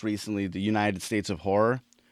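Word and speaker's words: Ho99o9: meets sort of punk rock and they're called horror and it's like spelled uh it's spelled ho9909 and dude this is this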